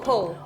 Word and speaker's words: Pho: My name is not Pho, that's a noodle. Pronounce it wrongly. So how do you call it? It's Po. Oh. Pho has the little squiggly line over the O, but I love it